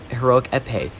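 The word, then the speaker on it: Épée: In fact, I just realized I pronounced Heroic Epee wrong. It's Heroic Epee.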